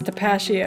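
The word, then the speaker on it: Tapatío: What if it's Tapatio? Pashio? I don't know. What if it's Is Pistachio. that Tapatio? how you pronounce the hot sauce? Pashio? Don't judge me! It's Tapatio.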